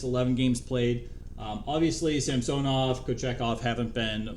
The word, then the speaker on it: Samsonov: um it's samsonoff Ilia samsonov uh he wanted his name or pronunciation of his name change from San Soma oh my goodness it was Sam sonov and now it's samsonov um no idea why